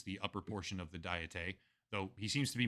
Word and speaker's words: Diet: in Thomas ly's book please request the National diete Library to investigate this matter secretaries of Satoshi Hamada's office wait that's pronounced diet I would have said it's diet I I